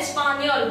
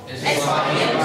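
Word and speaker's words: espagnole: First is vegetable sauce, second vegetable sauce, third espagnol sauce. इसका pronunciation है espagnol. बोलो espagnol sauce.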